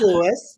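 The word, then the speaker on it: Llouis: So there's a silent L and then another L. So the first L is silent, but then it's L-L-O-U-I-S with a letter after that.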